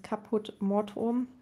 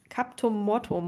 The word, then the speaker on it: Caput Mortuum: Jetzt bringe ich nochmal dieses Caput Mortuum. Caput, der ist richtig ausgesprochen. Ich habe es früher auch immer anders genannt irgendwie. Ich habe das früher, glaube ich, immer K irgendwie Captum Mortuum oder sowas genannt.